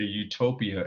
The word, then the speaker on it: utopia: tendency to view a Utopia as a perfect Society this change in meaning may result from the fact that in English Utopia u-t-o-p-i-a no place and Utopia e-u-t-o-p-i-a good plays are pronounced the same however most contemporary literary